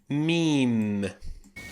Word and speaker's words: ميم: letter number 24 meme meme not a meme which is the m of the Arabic alphabet pronounced like the letter M plain and simple